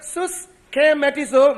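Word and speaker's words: συσχηματίζω: I'll spell it out to you. S-U-S-C-H-E-M-A-T-I-Z-O.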